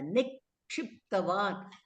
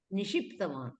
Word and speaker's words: निक्षिप्तवान्: Nikshiptavan. The ksha you have to pronounce correctly. It is not nishiptavan.